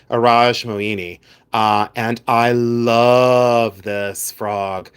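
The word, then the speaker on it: Iradj Moini: I say Araj Moini. People pronounce it in many different ways, but I've always said Araj Moini.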